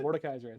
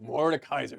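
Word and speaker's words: Mordekaiser: Mor Ken morn kaisen yeah how do you pronounce it Mor Kaiser Mor Kaiser there it is H he's here yeah we're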